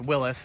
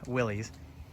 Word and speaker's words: Willys: our 1962 willy's pickup which is actually pronounced willis but around here most people know it as willy's it's all original except